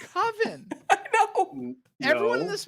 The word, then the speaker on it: Coven: Everyone calls it Coven. I know. It's Coven. I know. Everyone in this movie, no. Coven. Out of He's respect very for clear. Mark. You can't say coven; it rhymes with oven.